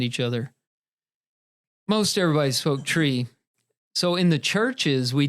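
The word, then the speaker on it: Twi: where we were, is Tree. Now that's spelled, Tim, you're taking notes over there. It's spelled T-W-I, but it sounds like tree. Naturally, that's pronounced tree.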